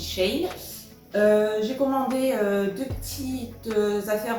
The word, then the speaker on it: Shein: ce n'est pas en la prononciation de chacun moi je dis Shane j'ai commandé deux petits